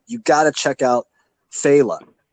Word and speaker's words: Phaeleh: got to check out Phaela, which is spelled Phaeleh.